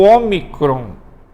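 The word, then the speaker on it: ο: O Ômicron, você vai pronunciar O.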